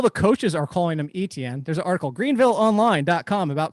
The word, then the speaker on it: Etienne: old old steve no i just pulled it up travis etm product uh pronunciation e e t n so not etntn etienne etcher is that what you were